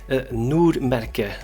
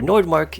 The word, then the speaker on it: NORDMÄRKE: only unboxed it now, which is NORDMÄRKE, which is how you can pronounce it, or NORDMÄRKE if you want.